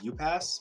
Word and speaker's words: Upas: say it I mean when I first started was it was you pass but like you pass this what it is I guess okay it's just way most people pronounce it so he's the the